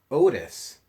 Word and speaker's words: Otis: the word Otis, but Otis is almost like our word only. It has a long O sound at the beginning of it. It doesn't work as part of a vowel team. It's just an O at the very beginning